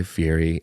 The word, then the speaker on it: Fieri: the clip of guy fiery I think he you're saying it wrong no he's saying it wrong and I refuse I won't say F Yeti cuz there's not a tea in there baby it's like I'm